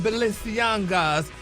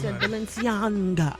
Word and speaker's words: Balenciaga: train and a pink feathered riding hair from Bissianga's spring 2020 selection collection. What ain't no in Balenciaga. Oh them too. Balenciaga.